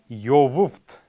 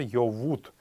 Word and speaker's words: йовуфт: лиц или людей, халгар йовуфт будет в литературном языке. Тадн халгар йовуфт. Но произносить это тоже очень сложно, поэтому в основном в калмыцком языке используется фраза тадн халгар йовут или йовуфт.